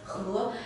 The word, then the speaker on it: 禾: This character is pronounced as He, and it's always used in He Miao, which means a serial seedling.